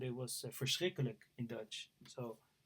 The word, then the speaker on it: verschrikkelijk: He said it was verschrikkelijk in Dutch.